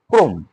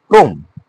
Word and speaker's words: ক্রম: এই শব্দের প্রথমে কি রয়েছে? প্রথমে ব্যঞ্জন বর্ণ যুক্ত রয়েছে এবং র ফলা রয়েছে, কিন্তু ওই রেফ রেফ রয়েছে না, সে কারণে ওই অটা উচ্চারণ কি হবে? ও হয়ে যাবে, ক্রম।